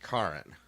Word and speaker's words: Caryn: It's spelled like Karen with a C though, and a Y instead of an E. It's pronounced Caryn. Huh. She gets Karen a lot.